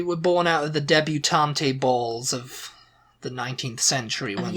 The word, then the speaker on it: debutante: She's a debutante, she's just come out, Debutante, is that how you pronounce it?